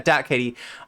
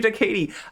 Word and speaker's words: DatKatee: So everybody go follow Dat Katie. Is Da Katie Dat Katie? It's that Katie. Like that. Yeah, Dat Katie. Oh my god, I don't know why I keep calling you Da Katie.